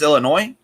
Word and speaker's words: Illinois: being there like the s is silent in illinois so it's just illinois yep i'm gonna i'm